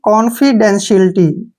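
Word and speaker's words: confidentiality: अब यहाँ पे टी आई का जो उच्चारण है वो श के रूप में लेंगे हम, टी आई ए को श पढ़ेंगे, ठीक है ना। यहाँ पे देखिए टी आई ए का उच्चारण श, और ई की मात्रा पढ़ेंगे यानी कि सिलटी, क्या पढ़ेंगे? सिलटी, ठीक है ना, शिलिटी, शिल्टी। इसको पढ़ेंगे हम कॉन्फिडेंशियलिटी, ठीक है ना, कॉन्फिडेंशियलिटी, क्लियर।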